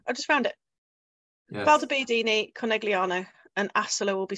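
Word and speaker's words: Valdobbiadene: Valdobbiadini. Yay! Well done. Italy's easy. You just pronounce every letter that you can say. Oh, there's Conegliano. I just found it. Yes. Valdobbiadini, Conegliano.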